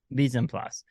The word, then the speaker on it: mise en place: Mise en place.